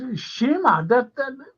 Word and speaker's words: Sciamma: Spell it now. Go on. Sciamma. Shima. That's Shima.